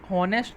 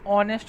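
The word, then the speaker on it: honest: ठीक है, तो सबने सही बताया है एन, क्योंकि इसे हॉनेस्ट नहीं ऑनेस्ट पढ़ा जाता है। इस क्या पढ़ा जाता है, ऑनेस्ट, हॉनेस्ट नहीं पढ़ा जाता।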